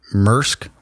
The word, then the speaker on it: Maersk: massive disruption danish carrier mersk we call it here in america but i think it's maersk pronounced as the danish wood is up thirty